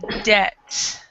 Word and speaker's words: debt: um the words uh debt and receipt um the B and the P before a t are also silent so you have Deb and you have um